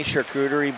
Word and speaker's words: charcuterie: throw that on any charcuterie board and it is lights out any what board charcuterie you want to say that again is that right saying it wrong no you're saying it absolutely right rims it around for